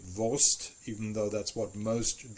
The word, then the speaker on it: Wurst: much used to people calling this thing a Wurst, even though it's pronounced with an ST and that's the end of the word. To me, it even doesn't sound right to say Wurst, even though that's what most Germans say.